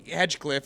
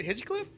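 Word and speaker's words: Hinchcliffe: We were at you know this guy loves Tony Hedgcliffe or whatever. And uh he's like Hey, say his name right. Is it Hitchcliffe?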